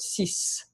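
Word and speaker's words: six: And then you have the word sis.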